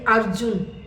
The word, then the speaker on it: अर्जुन: एक और बात सुनिए यदि किसी लेटर के ऊपर आपको र दिखाई देता है लेटर के ऊपर र दिखाई देता है तो हम उस र का उच्चारण उस लेटर से पहले करेंगे उस वर्ण से पहले करेंगे जैसे अर्जुन अर्जुन में क्या है ज के ऊपर र दिखाई देता है जब हम इसकी रीडिंग करेंगे तो हम अ के